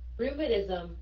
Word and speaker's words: rheumatism: Cô đọc chữ T thành chữ D á.